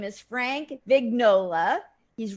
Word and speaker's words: Vignola: Vignola or Vignolia? Well, no, it's Vignola, although the Italian pronunciation, which nobody ever uses, is Vignola, like lasagna.